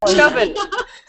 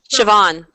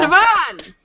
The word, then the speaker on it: Siobhan: Just Chauvin. Ooh, I can try. Chauvin? Sobin? No. Siobhan. Yeah. Siobhan! That's what I was going